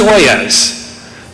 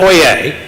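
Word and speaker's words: Oyez: Terrific, because at OYAS, and it is pronounced OYAS, not Oye. Well, you can't pronounce it Oye, but it's Norman French. So they pronounce the Z.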